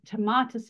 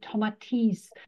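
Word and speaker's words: Tomatis: with the the the tatus method when I pronounce it which should actually be tomates in the French pronunciation yes you know and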